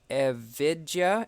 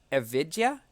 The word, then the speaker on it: Evija: today so the Lotus the via event has just started unless like 24 hours ago or something like that and Vidya is the correct pronunciation okay Vidya Vidya am I saying that